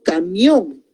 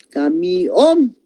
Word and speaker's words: camión: Por ejemplo, yo pongo camión. Una sílaba va a ser K y la otra sílaba va a ser mión. Entonces, la vocal está cayendo en la O. Camión.